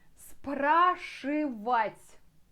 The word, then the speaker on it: спрашивать: At the end again, t with мягкий знак.